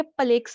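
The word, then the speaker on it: plaque: वहां पे कोलेस्ट्रॉल के प्लेक्स बनने शुरू हो जाते हैं, जिसको प्लाक भी कहते हैं, प्लेक या प्लाक, जो भी आप प्रोनाउंसिएशन रखना चाहो।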